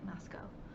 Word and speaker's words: Moscow: my idaho came out we have a town that i used to live in in idaho called moscow which is spelled exactly the same as moscow but they don't want to be thought of as russia so they say moscow signed out that was